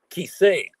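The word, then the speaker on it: כסא: It should be Kisei.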